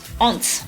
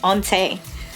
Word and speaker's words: ont: One thing, ont is pronounced ont, not onte.